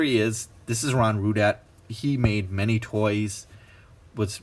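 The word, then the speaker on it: Rudat: minute this is Ron rude at rue dad is backwards here tater is his last name but rude at is spelled ru dat and I'll show you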